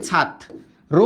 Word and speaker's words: ছাত্র: মাঝে বা শেষে বসলে মনে রেখো মাঝে বা শেষে বসলে রফালা দত্ত করে কিন্তু রফলার উচ্চারণটা হয় কিরকম দত্ত মানে কি ত ছিল একটা হয়ে যাবে দুইটা দেখ ছাত এইযে ছাত র না কিন্তু দত্ত করছে দেখো ছাত্র এই র ফলাটা বসে যায় ছাত্র।